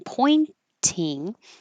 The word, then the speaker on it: pointing: sound you're and then pointing you can make the T pointing or you can skip the T because when the t comes after the n and it's in the unstressed syllable you can just make the in and not release the air flow pointing and that's what